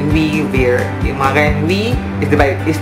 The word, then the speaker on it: wer: Ang who na German is wer. Who, W-E-R, pero yung pronunciation niya is V. Diba, sabi ko nila yung W nila, it is pronounced as V.